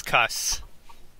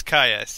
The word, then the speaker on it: Caius: how you pronounce it I thought it was cuss no it's guys I kinda like the idea of the whole city cussing okay so it's Caius yes and you're awarded